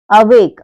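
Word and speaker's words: awake: क्या कह रहा है जब किसी वर्ड में ए के बाद कॉन्सोनेंट और उसके बाद ई हो तो जो ए का उच्चारण होता है उसे हम ए पढ़ते हैं जैसे ए डब्लू ए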